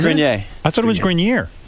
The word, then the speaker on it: Grenier: It's actually Grenier. Adrian Grenier. Okay. Yeah. Yeah, that's a tough one. I never knew how to pronounce that either.